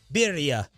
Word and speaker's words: birria: Birria, as Atola was saying, stop pronouncing it. Sounds about white. That's what y'all sound like. Birria.